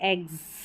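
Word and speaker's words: eggs: जैसे यहाँ पर देखें, यहाँ पर इन स्पेलिंग्स में देख सकते हैं, ये है एग्स, इसको एक्स नहीं पढ़ते, एग्स, ज पढ़ रहे हैं एस को।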